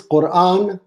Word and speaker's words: Quran: you say the Quran is it Quran or Quan because she sounded like she was saying the Quran no the Quran it is Quran Quran yes but uh